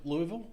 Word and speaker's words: Louisville: Do you have memories of Louisville? I do. Am I saying Louisville correctly?